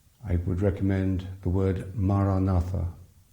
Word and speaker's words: Maranatha: Say the word as 4 syllables, ma, ra, na, tha.